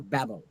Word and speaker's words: Babel: It's George Steiner's statement from his 1975 book called After Babel, or Babel as it is pronounced, on aspects of translation, and I quote Steiner here.